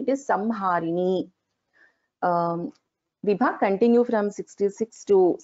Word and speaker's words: संहारिणी: So this is the Anuswara, and the letter after the Anuswara is also Ha. So we pronounce this as Samharini, not as Sanharini. It is Samharini.